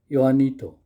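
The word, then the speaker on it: Juanito: the servant his servant yanito see in some of the European languages J is not pronounced and we can call him yanito yanito the servant tries to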